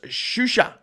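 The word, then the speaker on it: Xuxa: It's pronounced Shusha. Okay, cool.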